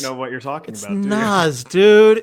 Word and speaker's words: Nas: It's Nas.